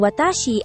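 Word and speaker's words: わたし: Ang watashi ay binibigkas na low high high high.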